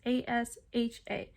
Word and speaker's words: Asha: v um and then asha sounds like sasha without the s so asha um asha asha so that's really